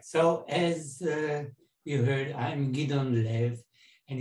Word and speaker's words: Gidon: as you heard i'm gideon live and it's pronounced by the way on the emphasis on the second syllable and because it in